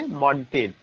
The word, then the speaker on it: Montaigne: तो इट्स a very significant point कि father of essay मॉन्टेन, MONTAIGNE, मॉन्टेन is known as father of essay, father of essay मॉन्टेन।